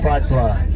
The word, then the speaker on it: Patois: Patois. Yeah, man. It's spelled like a French word, P-A-T-I-O-U-S, but we still spell it in Patois.